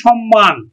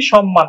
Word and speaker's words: সম্মান: যদি ম যুক্ত থাকে তাহলেও কিন্তু ম ফলার উচ্চারণ বজায় থাকবে যেমন সম্মান ম প্লাস হচ্ছে ম তাহলেও কিন্তু ম এর উচ্চারণ মজা থাকবে সম্মান সম্মান আমরা উচ্চারণ করছি কিন্তু সম্মান সম্মান আমরা উচ্চারণ করছি সম্মান তাহলে মফলের উচ্চারণ বজায় থাকছে তারপরে দেখ কতগুলো